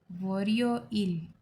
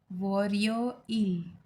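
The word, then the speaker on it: 월요일: Okay, तो Monday को कहेंगे वोरियो इल, प्रोनाउंस लाइक वोरियो इल।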